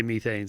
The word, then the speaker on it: methane: are farting you know it's methane not methane methane well the British say methane so I to sound